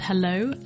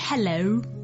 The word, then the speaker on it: hello: nailed it or not is this o sound at the end so some people almost over emphasize and they go hello but that's almost closing it down too fast it needs to be a very gradual o quite relaxed o and